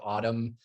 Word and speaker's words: autumn: the fact that we've got a silent n at the end of autumn you know and i